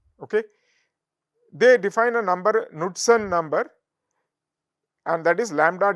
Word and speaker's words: Knudsen: Okay, they define a number, Knudsen number, and that is lambda divided by d. K is silent usually, Knudsen number.